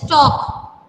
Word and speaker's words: talk: It is the word is talk. L is silent here.